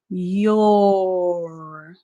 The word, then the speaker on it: your: the next word again the letter o is silent in this word it's spelled almost like